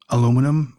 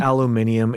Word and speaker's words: aluminum: how we pronounce um aluminum or how they pronounce aluminium yeah by the way that's incorrect guys it's not aluminium it's not spelled that way just look at how it's spelled that's just totally wrong